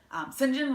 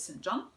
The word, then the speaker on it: St. John: St. John was how she pronounced it, although most people pronounce it St. John.